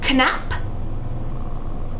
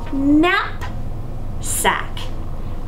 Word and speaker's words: knapsack: slide and divide so this word is canap nope just nap sack a knapsack is a